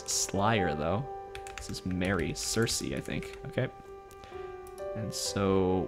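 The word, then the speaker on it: Circe: on this channel before in Greek Kirky because with kappa's but yeah mythology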